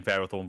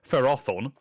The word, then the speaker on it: Ferrothorn: I've always remember seeing Ferrothorn for the first time or sorry the prop the proper pronunciation feron I'm not saying that again Fon yeah you would think that it was Ferrothorn because of feris nonfer metals but nope apparently according to